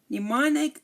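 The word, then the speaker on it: mnemonic: you're learning different languages you might be familiar with pneumonic pneumonic neonic the first m is silent now what does neonic mean it means something that helps you remember something else okay so the M here is silent neonic next we have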